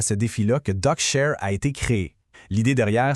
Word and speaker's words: DoQshare: Aujourd'hui, on va regarder ensemble DocuShare, et ça se prononce DocuShare, une solution qui a été pensée pour nous redonner le plein contrôle sur nos informations les plus critiques.